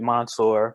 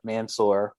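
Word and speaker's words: Mansoor: they tied him with monsoor mansour i don't want to say his name wrong i think it's mansour they tied him with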